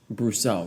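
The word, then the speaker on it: Brosseau: pronounce it? Brousseau, right.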